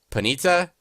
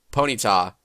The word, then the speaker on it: Ponyta: by the way where pronunciation is different for almost every person because there's panita ponyta and i think there's one other one that i'm missing it